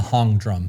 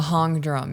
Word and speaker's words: Hang: One of the women had a steel drum that she was playing on called a hong drum. A hong drum. Yes. Spelled like hang.